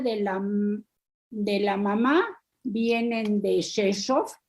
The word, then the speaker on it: Rzeszów: Nació en una palabra que cuesta mucho trabajo pronunciar porque son puras consonantes, R, Z, Rzeszów suena, pero es con R, en Polonia, y vino en el año, creo que en el año 30.